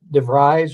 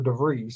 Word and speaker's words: DeVries: I heard him say on the radio the other day that it was pronounced, I think they said Darren, I believe is what they said, but DeVries or DeVries.